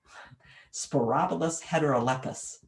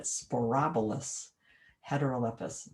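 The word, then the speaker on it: Sporobolus heterolepis: white and antha for flowers prairie drop seed sporobolous heterolepis don't you love it sporobolous heterolypis and i don't know that i looked up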